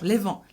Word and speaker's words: Levant: No, levant. No, Is it's it pronounced mirrored on levant.